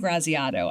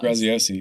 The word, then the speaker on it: Graziosi: And I was sitting with a group of publishers, and they had Dean Graziato. I always say his name wrong. Graziosi.